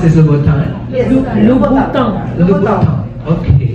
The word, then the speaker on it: Louboutin: How do you pronounce this, Louboutin? Yes. Louboutin. Okay. Louboutin.